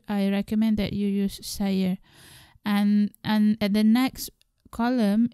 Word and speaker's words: saya: polite or standard form we normally use saya, s-a-y-a, pronounced as saya.